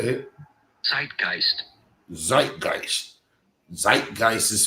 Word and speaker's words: zeitgeist: The word of the day is, and before I even attempt to try to uh say it, zeitgeist. Zeitgeist. Zeitgeist is spelled.